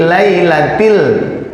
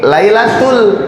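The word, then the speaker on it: ليلة: Inna anzalnahu fi lailatil. Nah, yang di sini lailatul ya. Jadi ini til, ini tul. Ya, jangan sampai salah tal til tuh ya.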